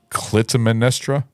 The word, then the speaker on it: Clytemnestra: It's Clytemnestra.